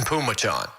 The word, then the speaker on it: Phommachanh: And Phommachanh. So it's Tyson Pumachan.